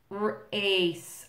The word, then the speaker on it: ace: just to remind you ace also kind of a tricky c there it's a soft c sound s sound or ace race oh